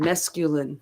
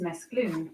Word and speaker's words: mesclun: name of the word mesculin for salad greens? The word is mesclun, not mesculin. It comes from the Provençal dialect word mesclum, which means to mix thoroughly.